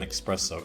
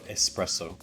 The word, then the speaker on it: espresso: i go there sometimes they grab an expresso espresso sorry in here in france they call it expresso which i hate because i don't know it's a mispronunciation that some brits make but i've never ever